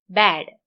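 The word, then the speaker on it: bad: ആ തുറന്നു പറയാതെ ബാഡ്, ആ, ബാഡ്.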